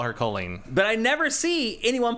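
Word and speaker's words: Kolin: Don't ask me why, but it is pronounced Colleen.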